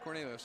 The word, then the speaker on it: Cornelius: Cornelius, that's right.